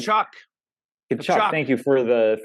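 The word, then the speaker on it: Tkachuk: but then you look at uh is it taychuk I hope I'm pronouncing that right shock shock thank you for the for the for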